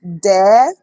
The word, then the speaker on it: Dèè: And you must pay attention to tone. How you sound it de. Listen to my voice carefully. De, not de or de. Though they might be the same spelling, but mark how you pronounce it. That determines what you are pronouncing or referring to.